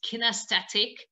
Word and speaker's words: kinesthetic: I think the correct pronunciation is kinesthetic in English, is basically the feeling for your